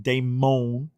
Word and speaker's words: daemon: That's how it's pronounced, daemon.